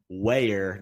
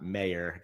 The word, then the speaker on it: Ware: Yeah, and I want to first and foremost start off by apologizing for my pronunciation of Ben Ware, not Mayer.